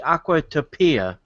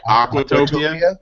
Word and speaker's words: Aquatopia: autopia ride yeah like aquatopia aquatopia yeah you put the emphasis on the wrong salel yeah exactly but this